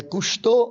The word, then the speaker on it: Cousteau: E aí, como a pronúncia é Cousteau, né?